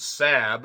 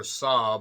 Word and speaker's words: Saab: and she gets with um Leonard after basically the other crew shows up in the old SAB or Saab I think is how it's said SAB I think that's a